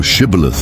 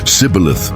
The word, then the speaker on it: Shibboleth: If he said, "Nay," then said they unto him, "Say now Shibboleth." And he said, "Sibboleth," for he could not frame to pronounce it right.